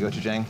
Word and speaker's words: Gochujang: The Oh, the Gochujang?